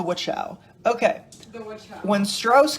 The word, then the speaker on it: Wachau: I have a feeling that is not. Like, just something tells me that's not how you pronounce It's the Wachau.